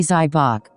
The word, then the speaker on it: Zybach: The inventor's name was Frank Zybatch, pronounced approximately Zybach.